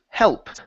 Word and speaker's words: help: Uh, next up is the word help. Right here, give me an L sound here. Uh, get uh get to hell. Help.